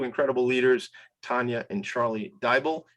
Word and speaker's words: Diable: leaders, Tanya and Charlie Diable. It rhymes with Bible. She taught me that yesterday.